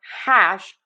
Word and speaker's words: hash: So for hash wide open a and then end with that sh. We do have a very quiet H on there. H in English is made with less friction than many other languages.